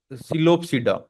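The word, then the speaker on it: Psilopsida: में डिवाइड कर दिया पहला आपका स सिलो सडा इसमें भी जो पी रहेगा साइलेंट रहेगा सिलो सडा की जो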